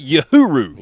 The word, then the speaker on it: Uhuru: Uhuru. Yes, sir. All right, I love it. So Braden's here with us, and we're going to go one-on-one and get to know a little bit about Mr. Uhuru today.